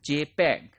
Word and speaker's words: JPEG: we use we use jpeg jpeg this is pronounced as jpeg and this is standard developed by joint photographic